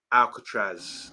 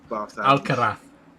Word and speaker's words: Alcaraz: And this is the guy, Alcatraz. I think. Alcaraz. How do you pronounce that? Alcaraz.